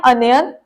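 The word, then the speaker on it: onion: बोलेंगे नेक्स्ट है प्याज प्याज को इंग्लिश में बोलते हैं अनियन बहुत सारे लोग इसे ओनियन बोलते हैं या ओनियन बोलते हैं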